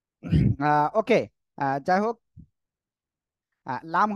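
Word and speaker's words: ل: লাগাবেন লাগিয়ে উচ্চারণ করবেন লাম ওকে যাই হোক লাম হলো জিহ্বার আগার কিনারা তার বরাবর উপরে মানে উপরে মাড়ির দাঁতের ক্রস সঙ্গে লাগে উচ্চারণ হবে আমার একটু ভুল হয়েছে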